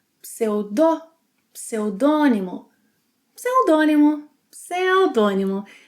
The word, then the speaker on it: pseudônimo: Pseudônimo, pseudônimo. Words starting with PS will have both consonants being pronounced.